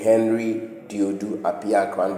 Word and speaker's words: Henry Dodu Apiakran: So that is my name Henry Dodu Apiakran.